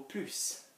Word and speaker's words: plus: for some of you which is blue or puse with a blues in certain situations so this